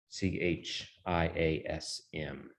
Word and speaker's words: chiasm: the chat so you know kind of how it's spelled c h i a s m the chiasm from the greek letter chi or